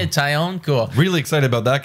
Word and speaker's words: Taillon: Taillon, that's Taillon. How you say it? Taillon, cool.